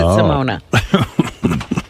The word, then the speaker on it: Simone: It's with an E. They pronounce it Simona.